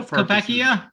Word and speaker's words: Koepka: Koepka?